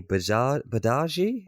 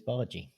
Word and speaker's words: Bargy: But, I mean, I'm going to pronounce his name wrong, but Rooney Badaji? They call him Badaji on the commentary. I believe it's Bargy.